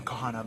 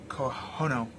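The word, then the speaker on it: Kahono: inspiration took on Kahana I always pronounce her name Kohana but it's kono koe no she basically decided okay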